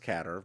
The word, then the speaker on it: Qatar: of Qatar okay yeah it's pronounced catter but I didn't know that I've only ever heard it pronounced Qatar yeah because we we